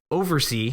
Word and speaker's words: OvrC: naming of it, but it's called Overse uh, and it's spelled OVRC.